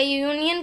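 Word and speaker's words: union: वो vowel है, पर जब हम उसे प्रोनाउंस करते हैं तब उसमें यूनियन यानी कि वाई का साउंड आता है, जो कॉन्सोनेंट है.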